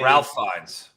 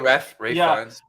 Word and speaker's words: Ralph Fiennes: He plays Voldemort in Harry Potter movies, and I thought it was Ralph Fiennes. Oh, okay. No, he goes. If he pronounced it Ray, I know I'm not. Oh, he does. Okay, Ray Fiennes.